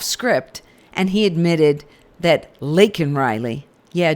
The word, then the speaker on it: Laken: and he admitted that Len Riley yeah Joe you still didn't say her name cuz you called her Lincoln was killed by an